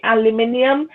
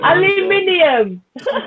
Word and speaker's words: aluminium: got you got you got to say it right for the American audiences okay it's aluminum no I like I like the other one it's it's aluminium um you know there's